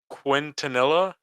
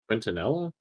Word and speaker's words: Quintanilla: but it's major Hector Quintanilla I think is how you pronounce that last name Antonella yeah it's like q-u-i-n-t-a-n-i-l-l-a oh I mean yeah